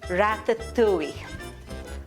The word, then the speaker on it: ratatouille: Ratatouille. Let me pronounce it the right way.